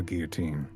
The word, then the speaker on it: guillotine: To let the blade drop on the guillotine. Is that how you say it? Guillotine. Yes. But there's a double L there. Yeah, it's French.